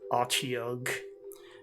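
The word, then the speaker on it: Otyugh: And I don't know how other people pronounce it. I pronounce it Ochiog.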